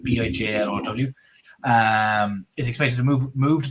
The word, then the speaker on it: Bijlow: I believe that's how you pronounce his name, is Biljow, or I think that's how the Dutch pronounce it, Bijlow.